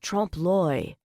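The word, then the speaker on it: trompe-l'œil: It's pronounced Trump Loy, she said under her breath from her position near the back door. It means trick the eye, she said in a louder voice so they could hear.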